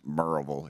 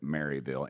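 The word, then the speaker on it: Maryville: what post where is it sir marville it's pronounced merille if you're from there but it's you would pronounce it marville m a r yv i l l e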